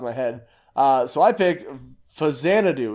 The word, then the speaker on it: Xanadu: head so I picked Hosanna do is how you pronounce this it's not sexy Anna do know it's not facts Anna - it's for Xanadu for the NES because what if it's